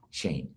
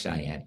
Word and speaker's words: Cheyenne: I said 82001 and they said oh Shane I said yes Shane Shane Wyoming well they couldn't pronounce Cheyenne I can't pronounce lots of things in other countries either but most people in the United States would be able to say Cheyenne okay all right so